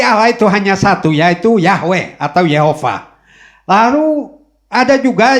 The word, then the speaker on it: Yahweh: Nah, yang kedua, YHWH, yang kemudian diucapkan Yahweh.